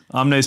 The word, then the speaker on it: Omnes: Omnes Films. How do you What? spell that?